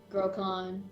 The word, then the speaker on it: Grokhan: You know, it's just now hitting me that my character's name rhymes with drawn. Grokhan, yeah.